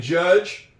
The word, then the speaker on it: judge: Silent D and judge.